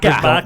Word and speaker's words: Barker: Barker. Don't pronounce the R's.